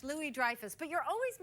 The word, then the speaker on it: Louis-Dreyfus: over to the church no it's actually French Lily Dreyfuss but you're always mispronouncing